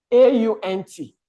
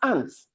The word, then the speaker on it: aunt: Another thing is when we say A-U-N-T, can we give the correct pronunciation? It's aunt, it's not ants.